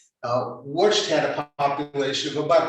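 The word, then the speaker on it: Łódź: we would pronounce this uh given an english pronunciation and call it lodge uh in polish it's pronounced uh watched had a population of about 205 thousand uh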